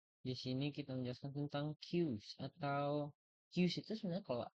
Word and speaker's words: queue: Jadi penjelasan tentang queues, queue, queue itu ya. Bacanya queue bukan QW.